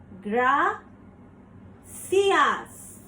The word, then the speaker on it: gracias: good morning continuing with I I is pronounced as e so the word gracias Gra see us proceeding with o o